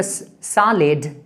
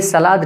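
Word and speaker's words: salad: I will have the सॉलिड please सलेट please ये सलाद नहीं है सैलेड है ठीक है इसको बहुत सारे लोग मिस प्रोनाउंस करते हैं फोर्थ इसका फंक्शन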